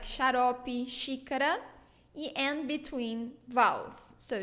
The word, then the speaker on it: xarope: Xarope, syrup. Xarope. So another pattern here, when it is in the beginning of words, we pronounce it like sh.